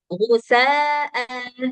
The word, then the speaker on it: غثاء: Jadi Hamzah ini walaupun ditulisnya nggak ada alif setelahnya seperti ini, ya, nggak ada alif seperti ini, dia harus tetap dibaca panjang kalau fathatain dan kita mau waqaf.